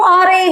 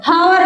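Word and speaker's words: hour: आर हवर नहीं बोलते हम इसको। हम इसको बोलते हैं आर।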